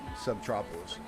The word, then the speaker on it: Subtropolis: at it, you know where Superman is from, Metropolis. It's pronounced the same, Subtropolis.